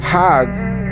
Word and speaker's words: Hajj: around the circles now Hajj is a pilgrim to Mecca Haag is the Egyptian pronunciation hug in Hebrew means